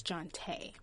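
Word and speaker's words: Jonté: It's spelled Johnt and then an A with an accent dash on it. So it's Jonte. It's so nice.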